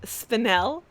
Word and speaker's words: Spinel: Carson mm-hmm so we you were saying it wrong it's spinel yes I'll I actually